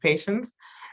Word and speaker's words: Patience: decided to name me Patience. And she said she named me in French, so I always feel bougie, like no, it's pronounced patience.